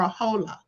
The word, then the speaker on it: hola: words like hala or hola. Okay, which you see that's like the Spanish word hola is how they pronounce it. The H is silent.